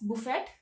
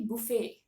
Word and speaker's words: buffet: of hotels so uh people tend to call it as Buffet because they tend to pronounce the T in the word but the T at the last of the word b u f e t the t is silent okay so uh the actual pronunciation should be buet buet buet okay let's look at